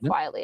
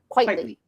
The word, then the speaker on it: Quitly: I think I always say that wrong because I say it like quietly. It's probably not I don't know how to say it. Quietly. I'm just gonna say it. Quietly. Quitly. Quitly. Frank Quitly.